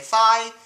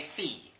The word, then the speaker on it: phi: to how it's pronounced some people say fi others say fee and as such I